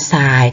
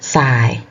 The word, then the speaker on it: ทราย: ซ้าย ถูก ต้อง ค่ะ อ่าน วัด ทราย ทร เปลี่ยน เป็น ซอโซ่ นะ คะ ทราย อ่ะ อีก ต่อ ไป